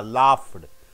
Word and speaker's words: laughed: GH is ending with what sound? F sound. Laugh. It is F sound, not lag. L A U G H. GH is pronounced as what? F. You don't say laughed, you say laughed.